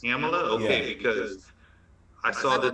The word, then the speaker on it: Kamala: I know it's pronounced Kamala. Kamala. It's pronounced Kamala? Okay, because I saw this the other day. I brought it up. Huh? She's Shelly saying no. No. Not Kamala. So it's Kamala.